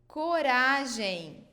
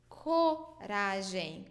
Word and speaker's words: coragem: So before the vowels A, O, and U, A, O, and U, we pronounce it with the sound K, K, okay?